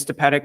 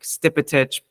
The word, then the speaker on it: Stepetic: So my last name is Stepetic, it's Croatian. That is not how you pronounce it in Croatia. So like it was only talking to my grandfather that I even know how to like pronounce my last name, like Stipitic, correctly.